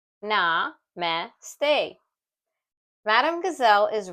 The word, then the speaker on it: namaste: How to pronounce namaste? Na-me-ste.